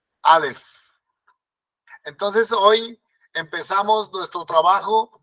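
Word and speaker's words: אָלֶף: Alef. Como si tuviéramos la F al final. Alef. Alef.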